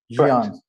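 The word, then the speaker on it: Ghion: Theodros Fikre, who is the founder and editor of the Gion Journal. Is that also correct? Gion.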